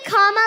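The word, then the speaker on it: Kamala: do you pronounce it first you say comma like a comma in a sentence then you say la like la la la la la put it together and it's 1 2 3 comma all right so let's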